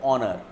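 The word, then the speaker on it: honour: जैसे देखो ऑनर, एच ओ एन ओ यू आर, ऑनर है कि नहीं. देखो ये एच से स्टार्ट हो रहा है लेकिन हम हॉनर नहीं बोलते हैं, ऑनर, ओ का उच्चारण है तो इसके पहले एन बैठेगा.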